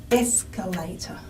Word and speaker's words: escalator: then we decided that our primary stress in the word escalator was in fact on the first syllable escalator if we can only clap one syllable it's a first syllable escalator not escalator so there's that escalator